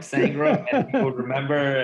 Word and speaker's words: Sangram: Sangram, am I pronouncing well your name? You got it, man. I'm trying to go for just one name like the Beyonce, so like Sangram, and people remember.